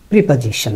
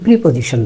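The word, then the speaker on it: preposition: আবার আমরা parts of স্পিচে খুবই কমন হচ্ছে প্রিপজিশন, না? এর উচ্চারণ কিন্তু প্রিপজিশন না, প্রেপাজিশন, প্রেপাজিশন, প্রেপাজিশন।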